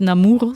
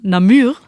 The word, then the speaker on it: Namur: Bieren aus Wallonien aus, Achtung, nicht Namur, sondern Namur.